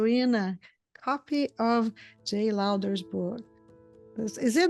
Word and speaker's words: Lowder: a chance to win a copy of Jay louder's book is it louder did I say it right or Lou you